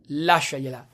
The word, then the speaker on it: lasciagliela: It's pronounced lasciagliela.